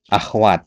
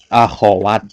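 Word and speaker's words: أخوات: Sama kayak ee akhwat dalam bahasa Indonesia. Enggak ada akhwat bahasa Arabnya. Akhawat yang benar ya.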